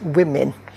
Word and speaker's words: women: The O is slightly complicated and there's apparently only one word where O makes an I sound and it depends on how you say it which is women rather than so if you say women for example uh then the O makes kind of an I sound and then there are